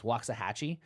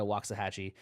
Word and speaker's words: Waxahatchee: I've been listening to, and I believe I'm going to say this artist name correctly because it's spelled like the place in Texas, Waxahatchee.